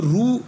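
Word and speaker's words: ऋ: சில பேர் அது வந்து ரூ என்று உச்சரிப்பார்கள். பட் அதை நம்ம ரீ என்று சொல்வது தான் சரியாக இருக்கும்.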